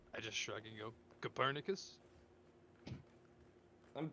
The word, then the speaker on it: Copernicus: I just shrug and go, Copernicus? I think it's That's pronounced Copernicus, but thank you.